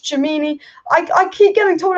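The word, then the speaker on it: Tchouaméni: win the premier league or champions league it's pronounced chamini i i keep getting told i was pronounced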